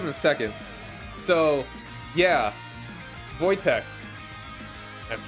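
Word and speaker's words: Wojtek: have to have in a second so yeah vojtek that's how it's pronounced a Syrian brown bear as a young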